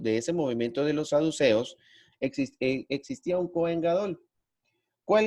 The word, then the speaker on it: saduceos: corrija con el acento, no sé si se dice saduceos o se dice saduceos. Ya acá, ¿cómo se dice? La forma correcta. Saduceos. Saduceos. Bueno, en la época de